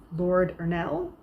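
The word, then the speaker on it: Ernle: recent editors have been lord earl ernal uh arnold i think that's how that's pronounced e-r-n-l-e lord ernell when he was mr roland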